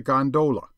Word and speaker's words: gondola: the fraternity as a gondola with the second syllable emphasized and pronounced long but to return I